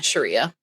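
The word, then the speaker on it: Sriya: I say Sharia. I think Sharia. It's yes. I think the I is pronounced like an E. Yes. Yeah, Sharia.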